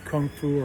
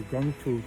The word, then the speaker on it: kung fu: Remember, the word kung fu or gung fu, depending on how you pronounce it, basically would mean mastery as a result of hard work.